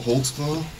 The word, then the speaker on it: Holtzclaw: As a demonstration here, I'll let your name there cuz I don't even know how to spell it. I can How do you say your name? Daniel Holtzclaw. Holtzclaw.